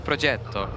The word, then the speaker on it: Progetto: sorry, I'm going to correct myself. It's a Progetto. As we were corrected in our ear immediately by Sile.